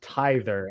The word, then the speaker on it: tither: yeah you know what tither actually would be pronounced tither as they oh as in one that pays tithes okay okay so when